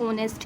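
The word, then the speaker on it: honest: करेंगे हम इसमें जैसे एन ऑनेस्ट क्योंकि एच साइलेंट है एन ऑनेस्ट वर्कर एन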